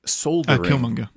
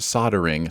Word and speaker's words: soldering: and i pronounced it soldier uh that was also killmonger and the comment is just soldering is pronounced soldering silent el yo you get a